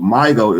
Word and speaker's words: Mygo: So when it comes with Mygo, it's MYGO. If you break the word down and syllable it, it's a my go.